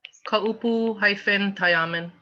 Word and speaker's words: Kaupu-Tayaman: Kaupu-Tayaman. Kaupu hyphen, say again, Tayaman. Tayaman. spell that last part for me, please.